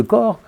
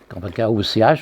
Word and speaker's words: Koch: On sait les conséquences qu'en tire Bruno Latour à propos du bacille de Koch, ou Koch, je ne sais pas ce qu'on dit, K-O-C-H, je pense que les deux prononciations sont admises, Koch.